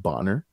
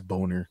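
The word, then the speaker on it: Bohner: that he corrects her and says, no, it's pronounced Bonner. But no, he giggles, and I'm like, man, the man's last name really is Boner.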